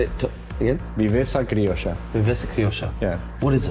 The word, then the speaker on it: viveza criolla: Viveza criolla. Viveza criolla. Yeah. What is it? So if Brazilians live their football in jogo bonito terms, we have something different, something very different. We call it Viveza criolla.